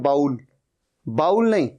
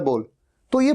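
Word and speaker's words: bowl: अच्छा आप में से कई इसे गलत भी प्रोनाउंस करते हैं कहते हैं बाउल बाउल नहीं सही प्रोनंसिएशन है बोल जैसे हम किसी को कहो बोल क्या बोलता है बोल तो यह बोल यह है इसकी सही प्रोनंसिएशन और दूसरा मतलब है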